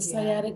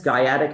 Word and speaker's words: sciatic: Someone pronounce Yeah, it's the sciatic nerve. sciatic.